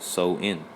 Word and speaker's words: Samhain: It says Halloween's origins date back to the ancient Celtic festival of Samhain. Okay, and it actually says it's pronounced so-in.